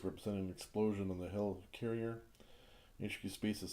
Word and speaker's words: Helicarrier: Next one we got here is Detonate the Helikiller. Helicarrier, sorry, kind of mispronounced it.